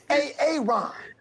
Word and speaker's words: Aaron: So why didn't you say it the first time I said A.A. Ron? Because it's pronounced Aaron?